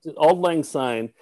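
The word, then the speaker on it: Auld Lang Syne: together he wrote a a piano piece to old lane sign is that how you pronounce it yeah old lang sign and uh he made his own lyrics to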